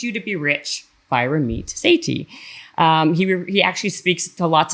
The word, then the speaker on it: Ramit Sethi: It's Ramit Sethi.